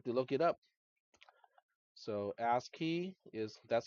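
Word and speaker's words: ASCII: you just have to look it up so ask key is that's how it's spelled it is American Standard code for information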